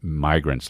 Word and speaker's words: migrants: Obviously got crossed up between, immigrants, short I. Look at this guy trying to do the English lesson. And migrants, long I. Started mispronouncing migrants with short I.